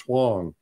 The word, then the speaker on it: Huang: It's Huang, which is pronounced Huang.